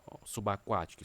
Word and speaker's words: subaquático: Também subaquático, será que eu preciso destacar aqui, ó, subaquático. Subaquático, né? Subaquático. Subaquático, a separação subaquático, né? Subaquático. A sílaba mais forte é a antepenúltima, subaquático, certo?